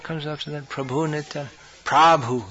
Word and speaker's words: Prabhu: Prabhu. Here in Croatia it's Prabhu, but in India it's Prabhu, not Prabhu. Just a point of pronunciation. Prab, not pra. That's a short A and long A.